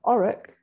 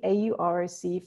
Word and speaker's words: AUROC: receiver operating characteristic curve it's never phonetically pronounced auric and i've no idea why but that's a tip for sounding like you know what you're talking about when talking to data scientists here we have the auroc from the study by